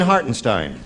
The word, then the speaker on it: Hartenstein: student said tell you it rhymes with Frankenstein oh really yes or Leonard Bernstein yes Frankenstein Charlene hartenstein yeah why does somebody